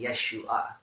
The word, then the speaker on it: Yeshua: gonna happen Jesus's name his name is not actually Jesus according to the that he break my tear election nice the official mothers of tongue reading of how you pronounce his name it's actually Yeshua but you know there's